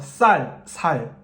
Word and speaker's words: 쌀: 그러니까 저의 결론은 사투리가 심하면 안 되는데, 그래서 아까 제가 말한 이해 가능성, 예를 들어서 경상도 사람들이 이렇게 쌀 발음이 안 된다 그러잖아요. 쌀.